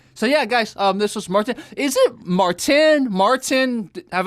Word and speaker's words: Maarten: So yeah, guys, this was Maarten. Is it Maarten? Maarten? Have I been calling you correctly just Maarten? Well, it's technically Maarten, Maarten.